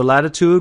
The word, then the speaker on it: latitud: If you didn't take the e off in Spanish, it would be latitude, because in Spanish you have to pronounce every single vowel. So they drop the vowel in Spanish and it keeps the same sound.